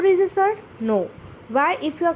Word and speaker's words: surd: S-U-R-D, surd. Its pronunciation is surd.